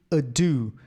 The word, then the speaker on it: ado: Esse ado, a gente tem que pronunciar ado, não pode ser ado. Ok? Porque não faz sentido. A letra D aqui, ela é forte.